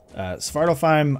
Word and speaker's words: Svartalfheim: Svartalfheim, I'm pretty sure, is actually the way you pronounce it because they do pronounce it in game. But it's just easier to say it the other way.